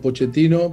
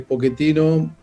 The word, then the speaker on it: Pochettino: pero de origen italiano pochetino porque en argentina en la ch la pronunciamos pero también en italiano es un apellido conocido del norte popular que es pochettino pero bueno si le